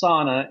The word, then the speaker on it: sauna: The two that came to my mind is sauna, pronounced sauna in America, but it's a Finnish word, Dino.